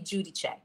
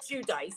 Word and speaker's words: Giudice: her last name incorrectly it should be Judy Che I don't know why she pronounces it too dice it's every time I